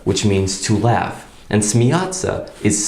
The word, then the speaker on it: смеяться: soft sign, s ya, смеяться. And we don't say смеяться, we say смеяться. So we just put the t in there.